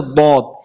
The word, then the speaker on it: ض: সবচেয়ে কঠিন হরফ হচ্ছে দদ। এই হরফ নিয়ে অনেক জায়গায় মারামারি পর্যন্ত হয়, কারণ এই হরফটা অনেকটা উচ্চারণের ক্ষেত্রে দালের গ্রান পাওয়া যায়, দালের মতো হয়।